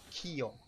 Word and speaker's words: kio: Okay, so the word for what in Esperanto is kio. Kio. And it's spelled K-I-O.